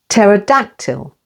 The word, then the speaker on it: pterodactyl: second syllable receip pterodactyl with the stress on the third syllable pterodactyl T e is silent